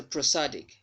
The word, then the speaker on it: prosodic: So prosodic. Prosodic. Pr. The vowel sound there in the first syllable of this word is a schwa sound.